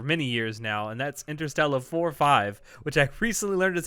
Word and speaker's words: Interstella 5555: memories of for many years now and that's interstellar four five which i recently learned is how you're supposed to say it i've always been pronouncing it interstellar 5555.